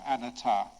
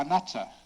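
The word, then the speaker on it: anattā: gonna be very careful when she when you pronounce see the Buddhist term for non-self an ATAR gonna know that there was this Western man who once in England he pronounced it an ATAR or a nutter and he was talking to this english lady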